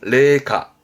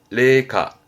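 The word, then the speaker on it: 零下: 그때 영하 발음은 레카 레카 영도 그렇죠?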